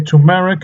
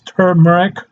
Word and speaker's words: turmeric: Some people say turmeric. It's turmeric. Um, if you want to pronounce it turmeric, go ahead.